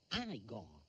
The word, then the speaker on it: Igor: unghie Doctor Frankenstein capisco Tu devi essere Igor no si pronuncia Aygo mi hanno detto che era Igor Beh avevano torto non